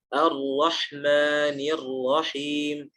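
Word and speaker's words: الرحمن الرحيم: Tapi kalau dalam bahasa Arab justru sebaliknya, huruf ra itu dibaca menempel saja, tidak perlu ditekan. Contohnya, Ar-Rahmanir Rahim. Bukan Ar-Ra.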